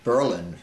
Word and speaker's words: Berlin: Born and raised in Berlin, Berlin is the way it's pronounced, New Hampshire, of French-Canadian heritage.